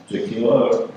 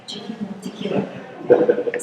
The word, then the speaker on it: Jakiela: Jakiela rhymes with tequila.